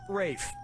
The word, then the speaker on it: Ralph: one yeah ray Fiennes first name is spelled like Ralph but pronounced Rafe are you [ __